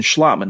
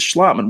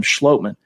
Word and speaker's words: Schlottman: friday it was austin schlotman and it is schlottman we've been mispronouncing it on this show calling him schlotman it's actually schlotman but nevertheless he was